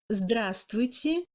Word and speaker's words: здравствуйте: Le V ne se prononce pas dans les combinaisons des consonnes V, S, T, V, чувствовать, здравствуйте et LVSTV, безмолвствовать.